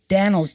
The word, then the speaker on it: Dannels: It's Dannels, Dannals. Am I pronouncing that right? Dannels? Yes, that's ELS, Dannels.